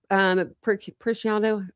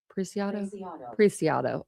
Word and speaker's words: Preciado: So Christopher Preciado, no, I'm saying that wrong. I've heard it a million times and I always say it wrong. Preciado. Okay, Christopher Preciado, 19, is arrested and charged with capital murder.